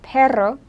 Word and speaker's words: perro: There's also pero, which means but, and perro, which means dog. So you kind of need that distinction. You can learn how to trill your tongue.